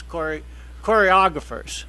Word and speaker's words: choreographer: So she gets famous choreographers. Let me Ooh. say. Choreographer. There we go. That's very good. I know. I put the emphasis on the wrong syllable.